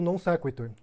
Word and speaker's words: non sequitur: Ele diz que é non sequitur e depois ele fala non sequitur.